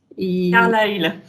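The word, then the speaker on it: Carlisle: Carlyle. En fait, on ne prononce pas le S.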